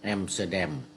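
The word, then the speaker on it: Amsterdam: อัมสเตอร์ดั บ้าน ว่า อัมสเตอร์ดัม ที่ นี่ เขา ออก เสียง เป็น แอมสเตอร์เด เป็น ออก เสียง เป็น เอ่อ ภาษา อังกฤษ ที่ เอ่อ เมื่อ วัน ก่อน ไป ล่อง เรือ แล้ว เ ไกด เขา พูด ให้ ฟัง ออก เสียง เป็น แอมซ สแดม แอมสเตอร์แดม นี่ ก็ คือ เอ่อ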